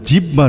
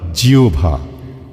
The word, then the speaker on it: জিহ্বা: ওটা জিহ্বা নয় জিয়ভা।